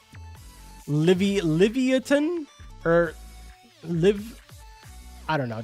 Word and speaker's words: Livyatan: It's pronounced Livyatan.